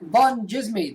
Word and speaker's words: Van Djsimie: and the follow follow and the D is silent and follow I'm begging